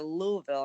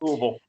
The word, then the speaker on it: Louisville: Louisville enough now that I'm getting the Louisville. I guess I know that's a proper way to say it. So Louisville, yeah.